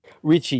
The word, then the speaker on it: Ricci: Ricci or Ricky? Ricci, yeah. There was an Italian in my family a long time ago, so that's an Italian name, and that's how you say it.